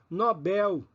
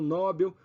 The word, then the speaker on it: Nobel: libido e não líbido Nobel e não nóbel pudico e não púdico